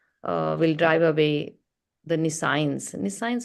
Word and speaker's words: nescience: Nescience is the right pronunciation.